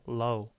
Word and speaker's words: low: 한 번씩 들어 보시면요 이거 L 이렇게 가볍습니다 L 발음은음 쭉 피니까 여기다 붙여서로 이렇게 low 이건 잡아 당기니까 로로로 row 미국 사람 목소리 한번 들어 보시겠습니까 따라해 보세요 low low 그다음에 다시 한번 low